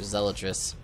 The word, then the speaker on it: zealot: that's what they're called they zeelot I used to always call them zelot when I was a kid I think everybody did but then we've learned